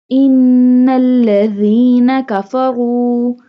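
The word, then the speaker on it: إِنَّ الَّذِينَ كَفَرُوا: Innalladhina kafaru sawa'un. Seen pronounced like a whistle sound.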